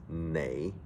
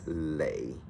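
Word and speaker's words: 你: For instance, the word you, Y-O-U, in Cantonese is pronounced nei, but sometimes it's been mispronounced as lei.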